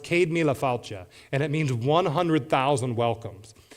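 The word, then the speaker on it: Céad míle fáilte: It's an Irish phrase that's pronounced cadmia and it means 100,000 welcomes.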